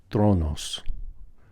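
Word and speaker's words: θρόνος: Thronos.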